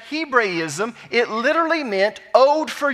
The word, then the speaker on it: Hebraism: This phrase, son of old age, is a Hebraism. Now, we normally pronounce it Hebrewism around here, so if that confuses you, it's the same thing.